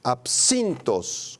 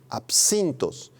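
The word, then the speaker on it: ἄψινθος: Absintos con th al final y acento en la i. Absintos.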